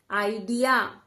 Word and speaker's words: idea: देखिए यहां पर 2 वॉवल्स हैं, इस E को हम साइलेंट कर देंगे। आइडिया, item.